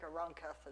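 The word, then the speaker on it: Aranjuez: the royal gardens at arunketh i do not speak spanish i certainly don't speak castilian spanish i've listened a whole lot on youtube and i think arancath is pretty much the way that's pronounced so uh the naronketh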